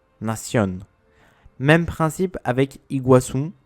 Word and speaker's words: Iguaçu: Même principe avec Iguaçu, le nom d'une cascade entre l'Argentine et le Brésil, qui est accentué sur le U au lieu du A.